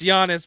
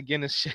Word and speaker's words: Giannis: Um, will Giannis Hey, I said it right this time. Guns. It's Giannis, bro. Don't Don't He did me dirty on the Guinness I don't know why I said that.